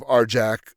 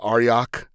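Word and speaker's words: Arjac: You have Arjak Rockfist, as people pronounce it, was Aryak, I think is the way it's supposed to be.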